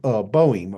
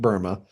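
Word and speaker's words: Böhme: But after Joachim, you have the 17th century German cobbler Jacob Boehm, or some people pronounce it Burma. Um, I've heard it pronounced both ways, but he inspired the English communist Gerard Winstanley.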